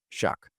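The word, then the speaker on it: Shough: Shuck.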